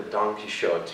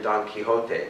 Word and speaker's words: Don Quixote: the english when they when they like to pronounce things like don quixote to the donkey shot you know or don quixote right you know pronounce it correctly and then they'll they'll